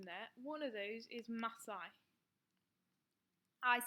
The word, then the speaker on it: Masai: Just a few words that are a bit tricky to pronounce in there. One of those is Masai.